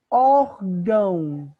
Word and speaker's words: órgão: Órgão. Então, a sílaba tônica não é o gão, a sílaba tônica é o or.